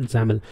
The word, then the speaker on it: XAML: zaml xaml extension that we pronounce at zaml so all these files